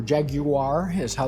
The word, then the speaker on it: Jaguar: They are both Jaguars or Jaguar is how the British uh would pronounce it.